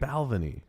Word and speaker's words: Balvenie: I've learned that that's the correct way to I've always pronounce had it. Balvenie.